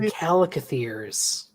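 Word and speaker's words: chalicothere: Oh, right, and calicotheres.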